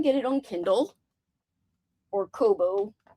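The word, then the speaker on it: Kobo: So, you can get it on Kindle or Coobo. Coobo.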